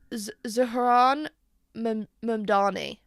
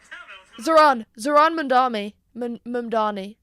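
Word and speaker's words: Zohran Mamdani: The latest is Zahran Mumdani.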